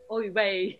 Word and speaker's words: oy vey: The Jewish expression is oi, ve. Oi, ve. Oy vey. Oi, ve. That's right, yeah.